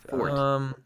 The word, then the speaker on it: forte: fort, which is and reserve the forte pronunciation only for the musical term.